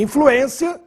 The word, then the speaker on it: influência: circunflexo no e e influência para não ler influencia que é verbo influência tem circumflex no